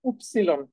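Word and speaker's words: Ypsilon: মোটামুটি ম্যাটার করে দেখুন দেখেন ওয় এর যে উচ্চারণ সেটা হচ্ছে উপসিলন ওয় এর যে উচ্চারণ সেটা হচ্ছে উপসিলন উপসিলন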